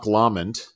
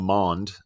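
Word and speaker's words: Lomond: day went to L lamond it's not lond as I first pronounced it uh nice little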